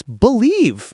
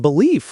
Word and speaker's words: believe: It's believe, not belief, Leo.